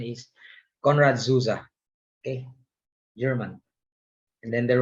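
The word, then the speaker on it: Konrad Zuse: was eckhart and mogley you know there's a conrad zeus uh by the way and the pronunciation is conrad zuza okay german and then there was alan turing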